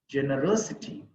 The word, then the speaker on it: generosity: capacity futility generosity c t there are five syllables in this from the end the third one is rositi generosity generosity electricity electricity opportunity